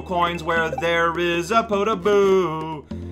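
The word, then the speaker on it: Podoboo: where there is a potaboo that's the correct way of pronouncing it and i hate it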